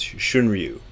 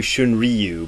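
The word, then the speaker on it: Shunryu: sound out of it probably the best you can do is shouldn't you but you don't want to do shouldn't Ryu because shouldn't Ryu would be a different name so shouldn't you shouldn't you I guess is how you you know you could pronounce it if you want to use the English style R sound another one that drives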